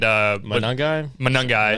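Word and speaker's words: Monangai: Colston Loveland, also the two-headed monster of DeAndre Swift and Manungai.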